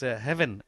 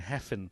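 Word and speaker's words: Hefin: uh correct so uh it is heaven Owen uh as in h v i n if you uh want to pronounce it in the proper uh Welsh way uh I think we've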